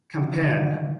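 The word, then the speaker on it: campaign: دواړو حالتو کې جي څه ده سایلنت نه تلفظ کیږي. لکه نټ میاسي ته ویل کیږي نټ میاسي. کمپین لښکرکشي ته ویل کیږي او یا هم کمپاین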